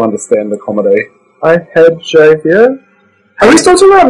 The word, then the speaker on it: Javier: They don't pronounce the J in Spain. Javier. It's an H. Yeah, it's like a silent J.